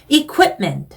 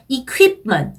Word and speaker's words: equipment: Q가 들어가는 단어는 Q 발음으로 하시면 발음이 이상해져요. 그러니까 Q 발음으로 question 이러면 발음이 이쁘지 않은 발음입니다. Q가 들어가면 발음은요, 이런 발음을 해주셔야 돼요. 그래서 equipment 아니고 equipment 그리고 question 아니고 이렇게 시작하라 그랬죠? question 이렇게 Q 들어가는 단어들이 발음을 신경을 써주셔야 되는 단어들이에요.